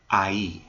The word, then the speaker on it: ahí: All right, let's take a look at ahí. Remember, the H is silent, of course.